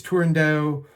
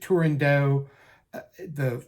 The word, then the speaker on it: Turandot: right there's nowhere in Toscanini said it was tendo uh it's rumored that Pini pronounced it tendo the first the woman that premiered the role tendo